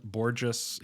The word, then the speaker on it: Borges: It's Borges. He would tell you, don't forget the pronunciation. It sounds like gorgeous.